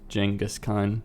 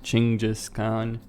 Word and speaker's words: Genghis Khan: Khan Genghis Khan well the pronunciation is certainly better than the default one jingis con Chinggis Khaan however the mongols pronounce it but the original